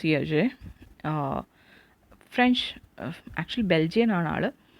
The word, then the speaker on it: Hergé: It's pronounced Hergé. French, actually Belgian ആണ് ആൾ. അപ്പോൾ ഞാനത് വായിക്കുവാണ്, നിങ്ങൾ കൂടെ വായിച്ചോളുക. Hergé was born on May 22, 1907 to Alexis